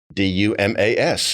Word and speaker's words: Dumas: of investment banking for demo Capital Partners all right and he's going to spell it for you because it's not how it sounds d-u-m-a-s that's right that's right so the S is silent that's right let's and